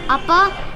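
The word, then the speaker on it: 아빠: How do you pronounce that in Korean? Appa.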